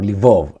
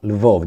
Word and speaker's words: Lvov: the Lviv region, or Lvov. Lvov depends how you want to pronounce it, Russian or Ukrainian.